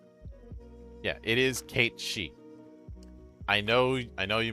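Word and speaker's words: Cait Sith: Yeah, I never did get the original pronunciation of his name. Yeah, it is Kate Shei.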